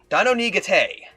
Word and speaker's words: Dino Nigate: Dino Nigate. That's how you're supposed to pronounce it.